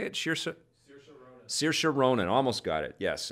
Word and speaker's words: Saoirse: quirky a quirky woman that is played by sheer sheer how do you say it sure sir saoirse ronan almost got it yes and she is